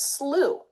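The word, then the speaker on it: slough: In other words, I found out that most of us pronounce that word s l o u g h as slooh.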